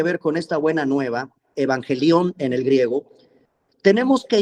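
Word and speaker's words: εὐαγγέλιον: batalla el evangelio así se escribiría así se pronuncia evangelion era una persona comisionada para ir al pueblo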